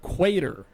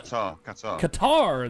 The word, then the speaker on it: Qatar: category of Performing Arts in the country of quater I think it's how you pronounce it q-a-d-e-r uh we are also uh Qatar there it is uh we are also number